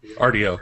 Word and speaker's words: Rdio: Rdio, yeah.